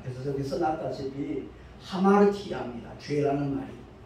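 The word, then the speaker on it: ἁμαρτία: 헬라어 첫 글자가 알파인데 그 알파라는 단어 위에 쉼표 꼬리가 있으면 아로 발음이 되지만 쉼표가 거꾸로 뒤로 이렇게 붙어 있으면 하가 됩니다. 그래서 저기 써놨다시피 하마르티아입니다.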